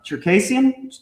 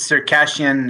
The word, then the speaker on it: Circassian: He is Circassian. Is that how we say it? Yeah. Okay. That's good. Yeah. He is a Circassian. They say it in English it's Circassian, and in Hebrew it's Cherkessi.